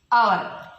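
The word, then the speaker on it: hour: ഇനി വേറൊരു എക്സാമ്പിൾ അവർ. അവർ എന്ന് പറഞ്ഞാൽ മണിക്കൂർ. ഇവിടെ ഹവർ എന്നാണ് എഴുതലെങ്കിലും ജസ്റ്റ് നമ്മൾ എന്താ വായിക്കുക, അവർന്നേ വായിക്കുള്ളൂ. ഈ എച്ച് സൈലന്റ് ആണ്, സൈലന്റ് ആണ്.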